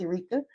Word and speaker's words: Erica: It's spelled like Erica, but it's pronounced Erica.